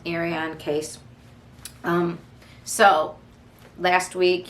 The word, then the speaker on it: Ariane: naomi iron ariane sorry spelled with an eye it's pronounced ariane case um so last